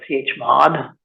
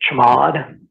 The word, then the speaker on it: chmod: So I can change that with this program that I pronounce as chmod. Other people pronounce it chmod.